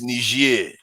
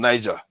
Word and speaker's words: Niger: It's just the pronunciation. It's Niger and Niger. Okay. One is French, one is English.